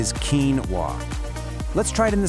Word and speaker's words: quinoa: If you were following normal English rules, you might guess something like quinoa. But nope, this word actually comes to us from Spanish, which got it from the Ketwa language. So, we have to play by its rules. So, the correct way to say it is quinoa.